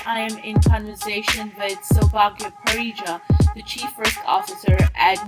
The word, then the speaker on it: Soubhagya Parija: Yes, you pronounced my name right, Soubhagya Parija.